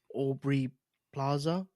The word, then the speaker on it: Aubrey Plaza: And I know of Aubrey Plaza. Is that Yep. is that how you pronounce her name? Yep.